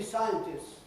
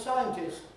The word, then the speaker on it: scientists: For instance, the plural of scientist used to be scientists with a long S, right? Losing the T. And then a lot of people want to make sure they have the right pronunciation and they try and keep the T.